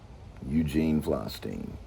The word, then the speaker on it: Eugene Flystein: Eugene Flystein If the name doesn't rhyme, you're saying it wrong. Eugene Flystein, so we're saying it right.